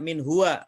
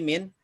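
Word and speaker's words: منه: Jadi tidak min huwa, tapi minhu.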